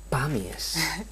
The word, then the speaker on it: Pamies: Ya ustedes ya desde casa lo saben, que el apellido Pamies debe de tener el acento en la A, ¿vale?